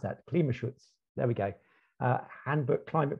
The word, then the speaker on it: Klimaschutz: How do I pronounce that? Klimaschutz.